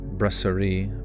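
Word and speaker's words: brasserie: Uh, the word brasier pronounced braseri.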